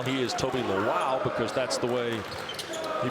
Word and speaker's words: Lawal: who followed the Rams knew him as Toby lall he is Toby laow because that's the way he prefers the pronunciation and we're happy to oblig as well